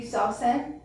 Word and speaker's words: Sawsan: Right now, I want to thank you, Sawsan. Yes, thank you. Wonderful. You pronounced her name correctly.